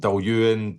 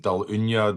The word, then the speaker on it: Dailuaine: Um so from um Duan Daluna Dalwana however you want to pronounce it. Um people will argue all day. If you phone up the distillery, the person answering the phone normally says, "Duan distillery, can I help you?"